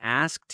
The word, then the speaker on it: asked: That one's fast, isn't it? Like you really just connect those sounds. It's so fast. That skt sound. Just really quick.